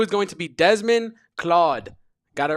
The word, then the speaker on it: Claude: I kept calling him Desmond Cloud. Desmond Claude.